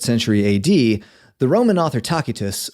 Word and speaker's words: Tacitus: A.D the Roman author takitus or tacitus as you may have heard it pronounced wrote a book called